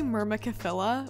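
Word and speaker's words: Myrmecophila: or a different genus i think it's pronounced mirror micellar mirror michela it's actually myrmakafilla which is one of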